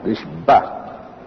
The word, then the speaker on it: Nishba: The word Menachem Asher Nishba, Asher Nishba, Hashem Arisechem, Nishba must be pronounced carefully because it has 2 meanings. It should not Chas v'Sholom be meant as the other way. So you pronounce it sharply, Nishba.